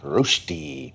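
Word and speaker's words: Rösti: R O S T I. Pronunciation roasti meaning super delicious potato dish from Switzerland. It all starts with a russet.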